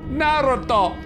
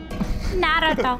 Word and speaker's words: Naruto: Remember, it's pronounced Naruto. Naruto. That's how you pronounce it.